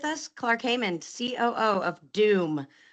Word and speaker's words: DEWM: And today I've got with us Clark Haymond, COO of DEWM. Now, that's not spelled like typical Doom, not the video game, but we're talking electronic warfare today, and that's DEWM.